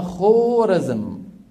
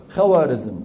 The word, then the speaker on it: خوارزم: عندهم بلد اسمها خورزم، شو اسمها؟ خورزم. فحتى يفرقوا، حتى ما يقرأها الإنسان خورزم، خو بالواو العربية، يضعون بعد الواو ألفا تكتب ولا تلفظ، بمعنى انتبه هذه خورزم. بيجي واحد غشيم مثل حكايتي شو بيقرأها؟ خوارزم، وبيقول لك العلامة الخوارزمي، لك يا عمي ما في خوارزم بالدنيا، في ايش؟